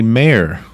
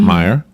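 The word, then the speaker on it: Maier: I and I am pronouncing her name correctly mayor not Meyer great I had been Curt incorrectly pronouncing her name for only 10 months meyer i kept saying meyer but its mayor yes and so now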